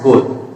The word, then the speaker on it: gaol: गोल एंड गोल, both are pronounced as goal but difference in meaning।